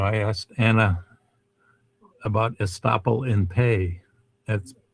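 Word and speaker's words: in pais: So this is, you know, I asked Anna about estoppel in pay. That's spelled PINPAIS, estoppel in pay.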